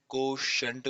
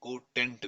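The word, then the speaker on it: quotient: कोशेंट भी बोलते हैं, कोटेंट भी बोलते हैं, आपकी मर्जी है प्रोनाउंसिएशन। कोशेंट बोलो या कोटेंट बोलो।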